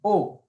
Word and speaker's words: aux: A plus les, o. Notice the same pronunciation, o, except there's an x at the end, and you just have to memorize the x.